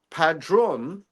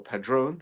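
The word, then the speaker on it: Padrón: can't hurt but uh padron or pedron however you want to say it right right is something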